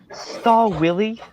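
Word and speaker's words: Stahlwille: But It's actually it's pronounced Stall Willie.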